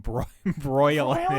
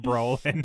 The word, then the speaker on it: Brolin: I was kind of chuckling that you keep calling him Broylin instead of Brolin.